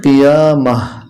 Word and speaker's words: القيامة: যখন আমরা এখানে থেমে যাব উচ্চারণটা হবে কিয়ামাহ।